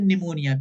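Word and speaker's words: pneumonia: य क्या लिखा है निमोनिया पी साइलेंट होता है ठीक है तो शी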